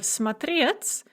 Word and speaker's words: смотреть: So we have смотреть with the stress on the second syllable in the infinitive. Я смотрю, the stress remains on the second syllable. But ты смотришь. Now the stress is going to shift to the first syllable and it's going to remain there for the rest of the paradigm.